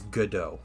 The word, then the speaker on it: Godot: It's Godot. All right, that's how it's pronounced.